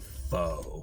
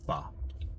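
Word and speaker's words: phở: I used to call it fo, but it's pronounced fa.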